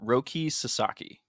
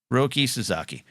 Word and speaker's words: Roki Sasaki: I looked up how to pronounce it. Roki Sasaki. Roki Sasaki.